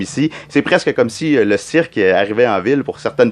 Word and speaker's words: Le cirque: Le cirque, is that how you say it? Le cirque? Le cirque. Le cirque. All right, yeah. Exactly. Yeah.